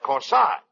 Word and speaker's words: corsage: That's corsage. Spelled A-G-E is pronounced like odd, as in corsage or garage.